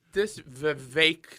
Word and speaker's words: Vivek: This Vivek that rhymes with cake guy.